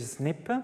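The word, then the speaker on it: SNP: appelle polymorphisme nucléotidique ou qu'on appelle aussi snip prononcé comme ça que ça vient de l'anglais single nucléotide polymorphism c'est ch simplement le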